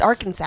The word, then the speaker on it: Arkansas: It's Arkansas. It's Arkansas. Pronounce it right, please.